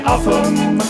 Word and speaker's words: Oldham: For in Oldham the locals say Uffam, to the natives of Blidworth it's Blid.